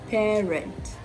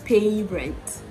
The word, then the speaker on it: parent: it a try so the same way you pronounce scarcity is the way you pronounce this word parent parent parent right so it's not pay rent the next vowel sound after the sound isn't the diphthong a it is the diphthong air the same way you